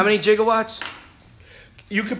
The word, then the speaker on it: gigawatt: more satisfying to me now if you pronounced it gigawatt okay kind of like gigabyte yeah you know the